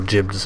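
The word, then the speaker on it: gib: reason that the word jibs exist, and it's pronounced jib, I found out. It's the G-I-B word that everyone says, like, when you blow somebody up.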